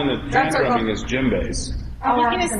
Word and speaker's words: djembe: Djembe. Yeah. That's with the silent D.